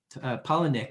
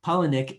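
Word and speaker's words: Palahniuk: something new uh chuck palaniuk polynic sorry i pronounced his name wrong paulinick who is the author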